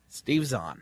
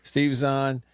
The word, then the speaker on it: Steve Zahn: Steve Zahn. Steve Zahn and Jack Black, they're playing these 2 characters